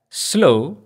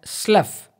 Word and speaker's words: slough: s L oh ugh if we pronounce it as slow as is in the case of flow it means a marshy land when we pronounce it as Slough as is in the